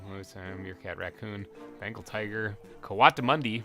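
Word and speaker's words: coatimundi: meerkat raccoon bengal tiger kawata mundi which i found out that's how you say it uh pangolin gila monster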